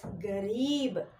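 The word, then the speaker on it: गरीब: So I am giving the stress to Ra as Re. So how we pronounce it as Garib.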